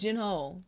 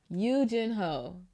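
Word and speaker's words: Yoo Jin-ho: His name is Gino. to play. Well. I'm sorry. I have to go back. Eugene. Ho! Yo, why did anybody tell me? I've been saying his name wrong this whole time.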